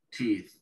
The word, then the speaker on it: teeth: La doble E, esa que ven ahí, se pronuncia como una I larga en inglés, que es una vocal que nosotros no tenemos. Tenemos la I común y la alargamos un poquito más y podemos lograr el sonido, ¿sí? Teeth, de ellos. Y la TH del final se pronuncia como una Z suave, como pasó en mouth, teeth, todo eso, ¿sí?